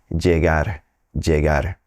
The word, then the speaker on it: llegar: across folks who are pronouncing it more like a soft J jar jar they're both correct it really depends where you're at regionally now if you work your way down through South America and you end up down in Argentina Uruguay that dou L may sound like a sh she she whichever one you want to use just be you now